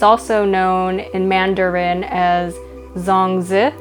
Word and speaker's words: zongzi: on jung is actually the cantonese way to pronounce it and it's also known in mandarin as zongzi it's also known as a chinese tamale yeah